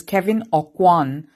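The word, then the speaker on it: Kevyn Aucoin: So I Googled the pronunciation. It is Kevin Awan.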